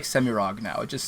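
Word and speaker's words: Semirhage: I'm finally starting to tip towards Semirog, but Semirage was how I pronounced it for like the first 15 years, and anybody who says that is going to be like, okay, well they're probably saying it the right way, I guess.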